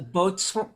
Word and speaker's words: boatswain: It Isn't sounds that the boatswain, boatswain, Boatswain, yeah. boxen? How do you say it? Boats. Well, Bosun? a boatswain is a bosun, but a Okay.